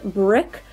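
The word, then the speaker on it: Brique: liquid lipstick from zou this is called brick but it's spelled b r i qu e and then I am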